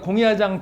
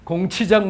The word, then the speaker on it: 공야장: 이 얘기가 이제 이 얘기의 핵심인데 앞에서 이미 우리가 공야장 편에서 이걸 공부했습니다. 이건 나중에 여러분들이 가서 한번 확인해 보세요. 공야장은 공치장이라고 읽으면 안 됩니다. 논어 잘못 읽은 사람한테 공치장 논어 읽었다고 그래요.